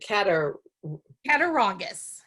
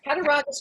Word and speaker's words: Cattaraugus: So you lived in a place, I'm not sure how to pronounce it. Is it Cattaraugus? Yes. Cattaraugus, New York.